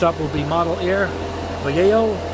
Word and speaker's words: Vallejo: All right, guys, next up will be Model Air Vallejo. Vallejo, that's how it, somebody told me that's how you say it.